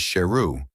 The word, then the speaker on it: Sheru: Saru returned after 25 years. He also found out that he had mispronounced his name wrongly, and his actual name is Sheru, which means lion.